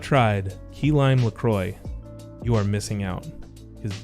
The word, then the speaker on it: LaCroix: look at this and helpfully mentions that it rhymes with la croix boom on the website better sit down better sit down such an american statement bam it rhymes with enjoy lacroix i know my